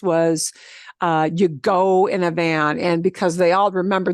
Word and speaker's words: van: Boy, but don't pronounce it like van. See? Voy vas, vamos, vais, van.